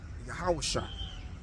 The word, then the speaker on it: Yahushua: And if you are a Hebrew, you would have pronounced this name Yahushua.